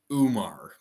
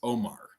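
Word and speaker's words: Oumar: and they're calling him umar because it's o-u-m-a-r but it's omar that's how it's pronounced so i mean unreal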